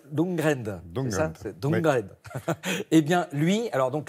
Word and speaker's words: Lundgren: du mal à prononcer son nom, donc... Exactement. Dolph Lundgren. Lundgren. C'est ça, c'est Lundgren.